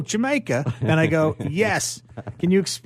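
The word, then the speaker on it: D'yer Mak'er: How do you pronounce it? He goes, oh, Jamaica.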